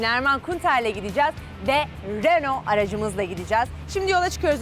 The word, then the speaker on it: Renault: Renault pronunciation alabilir miyiz Renault yani E tabii Fransızcada ö okunduğu için Renault İlker spor ve etkinlik